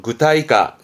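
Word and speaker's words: 具体化: 발음은 구타이까, 구타이까.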